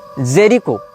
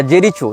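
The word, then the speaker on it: Jericho: हो या फलस्तीन हो इसने जेरिको या जेरीचो जो भी इसका उच्चारण भाषा में किया जाता है जे आर आई सी एच ओ जेरीचो या जेरिको जहां तक जेरिको होना चाहिए उच्चारण यह फलस्तीन का प्रांत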